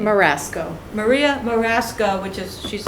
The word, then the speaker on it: Marasco: uh charlie in attendance are all of us and um marie how do you say your last name marasco maria marasco which is she's on the agenda